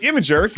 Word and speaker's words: Imgur: Well, now image hosting site Imgur, yes, that's how it's pronounced, is doing the same thing.